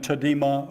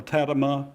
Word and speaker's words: Tadema: And even Tadema or Tadema, you can pronounce it either way, the great Dutch painter,